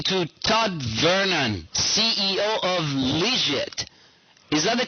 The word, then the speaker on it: Lijit: Todd Vernon CEO of legit is that the correct pronunciation Todd uh that's a pretty close uh that's pretty close uh it's legit like Too Legit to Quit oh I I hadn't